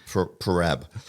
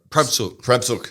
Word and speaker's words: Prabsuk: How do you say that? Parab. No, well, I think it was Prabsuk.